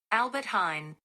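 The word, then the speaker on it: Albert Heijn: can't you guys hey google how do you pronounce the name of the largest dutch grocery store chain albert hein oh my god she knew something amazing albert hine well there was a j in it so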